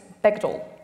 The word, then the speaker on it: Bechdel: Elle nous dit « rhymes with rectal », c'est-à-dire que ça se prononce « Bechdel ».